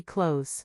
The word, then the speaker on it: clothes: We say clothes. Remember, guys, the letter e is silent.